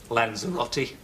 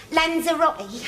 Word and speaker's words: Lanzarote: Oh, I can never pronounce it. What's it called, Len? Lanzarote. That's it. Lanzarote.